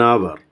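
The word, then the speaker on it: hour: sound another one యాన్ అవర్ here ఇక్కడ మీరు చూసినట్లయితే అవర్ కి హెచ్ అనేటువంటిది consonant but still sound produce కాదు హెచ్ మనం ప్రొనౌన్స్ చేయం consonant is not pronounced అవర్ ఆన్ అవర్ ఇన్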